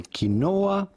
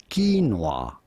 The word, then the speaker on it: quinoa: Do not say quinoa, but rather quinoa. Quinoa. Quinoa. There we are. That's how you say it. It was a French word, so that's my excuse. Wrong emphasis on the wrong syllable, Bob.